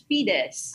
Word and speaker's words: Fides: How should I pronounce your name? Yeah, that's correct. That's Fides.